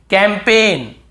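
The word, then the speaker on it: campaign: हमें याद रखना है कैंपेन कैंपेन कैंपेन यहां पर भी जी साइलेंट है कैंपेन फॉरेन बहुत से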